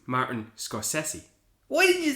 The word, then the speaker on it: Scorsese: Oh, by the way, David, it's actually pronounced Martin Scorsese.